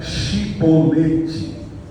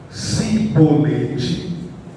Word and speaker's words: chibolete: de Gileade lhes diziam Então diga chibolete se eles dissessem sibolete não podendo pronunciar corretamente a palavra eles os agarravam e